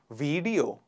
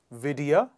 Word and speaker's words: video: Next one is, oh my God, very commonly mispronounced word. Video. Video? Video. Please repeat after me. Video. Vidya.